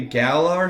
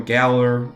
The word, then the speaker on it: Galar: in a weird way galar should almost you know Galler I guess if you want to use the correct pronunciation um with the UK basis is so comfortable to